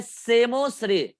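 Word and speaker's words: psammosere: अगर soft area में हो रहा है तो उसको बोलते हैं सेमोश्रेय, पी साइलेंट है यहाँ पे, सेमोश्रेय।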